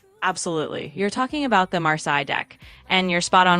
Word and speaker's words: Marseille: You're talking about the Marsai deck, and you're spot on with the pronunciation. It's Marseilles.